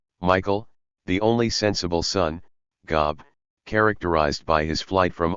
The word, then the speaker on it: Gob: or gob pronounced like the biblical job is the opposite of his heroic namesake.